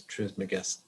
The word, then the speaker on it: Trismegistus: There you go, Hermes Trismegistus.